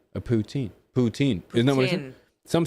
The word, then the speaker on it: poutine: It's pronounced poutin. That's what I said. A poutine.